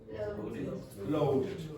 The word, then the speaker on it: loaded: Loaded. Okay, so that's the reason that's pronounced id is because of that D.